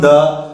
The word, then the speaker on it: the: चालू हो रहा है, इसलिए इसका जो उच्चारण होगा वो होगा दी।